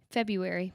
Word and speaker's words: February: again one more time february that's how it that's how i like it the r well that is it the r is silent to my knowledge february sounds way better